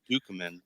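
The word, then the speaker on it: Ducommun: dead is he really I think it's actually pronounced dukeman actually uh yeah Rick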